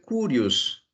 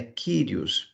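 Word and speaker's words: κύριος: senhor filhos na transliteração vai aparecer kurios tá bem mas a pronúncia correta é kyrios porque na verdade o que aparece como um para nós é o y no grego então a melhor transliteração seria kyrios dão kyrios ou senhor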